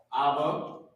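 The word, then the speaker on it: אבא: no right so now how you pronounce it is abba you already know we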